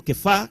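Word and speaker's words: Kefa: había sido dada Jacobo cefas o quefa que es como se pronuncia en hebreo y Juan que eran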